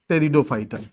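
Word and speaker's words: Pteridophyta: ब्रायोफाइटा ब्रायोफाइटा और तीसरा टेरिडोफाइटा टेरिडोफाइटा टेरिडो phyta ठीक थैलोफाइटा थैलोफाइटा ठीक ब्रायोफाइटा ब्रायोफाइटा और टेरिडफाइटा ठीक टेरिडोफाइटा ना ध्यान रखिएगा ऐसे लिखना है पी से लिखना है साइलेंट रहता है ठीक पहला हो गया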